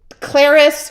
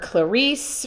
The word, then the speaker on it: Clarice: And her name is Clarice, rhymes with Paris. Before I met her, I was calling her Clarice from that movie.